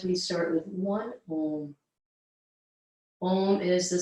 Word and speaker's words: Om: Om is the sound of all of life. It's what connects us all. It signifies connection. It signifies vibration. 3 syllables, ah, u, that all come together at the heart.